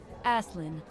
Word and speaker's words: Aslin: Now why in the hell would they make her pronounce her name like that? Aslin? They should have done like Aelin, even if there was an S in the middle of it.